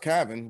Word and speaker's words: Calvin: And she was like, well, it's pronounced Calvin without the L, but things happen in the States.